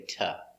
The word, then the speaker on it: to: We don't say to, we say ta. And sometimes duh. In this case, you can say tell her to call me. Tell her to call me, or duh. Tell her to, with a D sound.